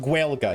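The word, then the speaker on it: Gaeilge: It's pronounced gua.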